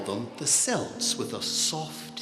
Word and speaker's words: Celts: You don't call them Celts, you call them Celts, with a hard C.